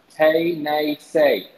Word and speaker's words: Tennessee: The way that Tennessee, the state of Tennessee, if you were to say Tennessee in the Cherokee language, it is pronounced Tay-nay-say.